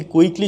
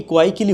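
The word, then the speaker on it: quickly: আমরা যদি কুইকলি শব্দটাকে কোয়াইকলি বলি তাহলে বুঝতে পারছি যে এটা কী হয়ে যাচ্ছে, ঠিক হচ্ছে না।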